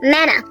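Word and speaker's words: manna: do you call this Mana indeed it rightly rhymes with Hannah because Hannah was given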